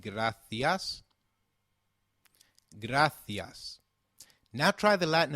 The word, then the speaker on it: gracias: There's a key difference in how gracias is pronounced in European Spanish versus Latin American Spanish.